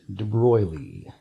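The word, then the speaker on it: de Broglie: a grad student named debroglie yes a foreigner hence the funny pronunciation of his name Roy Lee he said look we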